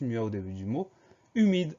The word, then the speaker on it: humide: suivant c'est le mot humide alors attention première syllabe u on va devoir mettre un H qu'on entend pas un h muet suivi d'un U donc début du mot